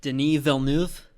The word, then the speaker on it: Denis Villeneuve: Well, and Denis Villeneuve, I finally got the pronunciation down.